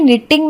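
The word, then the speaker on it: knitting: अब देखिए कि निटिंग में के और दूसरी टी का उच्चारण नहीं हुआ, बोलने में निटिंग ही आया।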